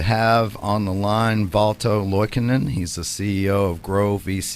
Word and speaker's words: Loikannon: very happy to have on the line Balto Boykin and he's the CEO of grow VC group